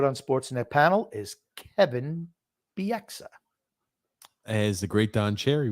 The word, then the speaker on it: Bieksa: What do you used to call him? Kevin Bieska? I had it, but then, of course, you even butchered the butchered version, so I don't remember. He calls him Kevin Bieska. That's what he called him. Kevin Bieska, which is he was the only person to call him that, too.